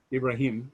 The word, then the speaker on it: Ibrahim: and so god tells abraham ibrahim i want to pronounce it the right way and for the story's